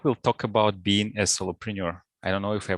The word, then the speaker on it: solopreneur: This week we'll talk about being a solopreneur. I don't know if I pronounce it correctly. Do I? Solopreneur, like entrepreneur? Perfect.